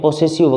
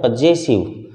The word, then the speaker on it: पजेसिव: और इसका भी कुछ लोग गलत बोलते हैं, पोसेसिव वगैरह बोलते हैं, ये होता है पजेसिव। तो आई का ऑब्जेक्टिव केस हुआ मी और पजेसिव केस हुआ माई।